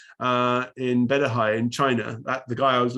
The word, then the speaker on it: qi: it what he called chi uh chi is a chinese term for energy or life force um and uh it's pronounced uh it's written q-i but it's pronounced chi as in like cheese um so um i